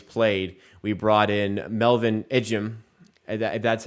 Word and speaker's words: Ejim: basketball everywhere he's played we brought in Melvin ejim that's how you say it and he was